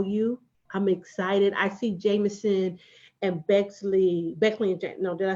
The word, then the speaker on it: Jamison & Bexley: I see Jamison and Bexley and no, did I say it right? You said it right. Jamison and Bexley.